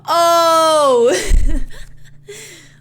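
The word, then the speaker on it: eau: French I always give the example of water. The word water is spelled e au.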